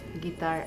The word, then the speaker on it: guitar: it is pronounced s guitar s u is silent in the word and the final silent